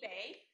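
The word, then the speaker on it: Bae: age um and then my last name should not be too difficult to pronounce it's we live in the bay area i am the director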